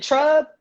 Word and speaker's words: Trub: Is it Trub?